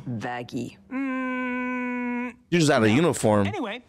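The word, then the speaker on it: Vaggie: ] like you it's why I named you vagi actually it's pronounced vagy just out of uniform anyway you sure [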